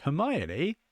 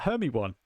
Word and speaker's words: Hermione: movie came out and I was like Hermione they're saying a name wrong um spelled Hermie one um anyway very cool